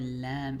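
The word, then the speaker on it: لام: to preolar up here, that's where lamb is pronounced from. Lamb. It's very similar to the L sound in English.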